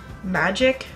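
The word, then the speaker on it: Magick: And it is called Magic, but it's spelled M-A-G-I-C-K.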